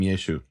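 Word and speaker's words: ישו: Meaning, what I'm suggesting is, probably some of his disciples called him Yeshu; certainly, the Galilean ones because they couldn't pronounce the Ayan.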